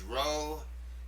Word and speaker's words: rho: Number 17 is the name of the letter is rho. It makes the r sound, not the p sound.